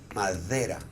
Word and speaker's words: madera: as Spanish speakers, that when D is in the middle of a word, not at the beginning and not at the end, but in the middle, we don't pronounce it like a D in Spanish. We pronounce it like a TH.